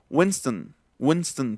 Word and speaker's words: Winston: son, en realidad ya no se va a pronunciar la O, sino va, por ejemplo, a ser Johnson, Lennon, Harrison, Lennon, Harrison, Johnson, Winston, por ejemplo, Winston, que era una marca de cigarros, ¿no?